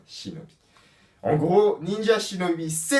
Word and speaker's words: shinobi: Par contre, il y a aussi une prononciation japonaise, et du coup, la prononciation japonaise va être shinobi.